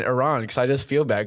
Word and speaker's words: Iran: He was like, that's what I'm saying, Iran, because I just feel bad, because I used to say Iran, but he's like, you're saying our country's name wrong.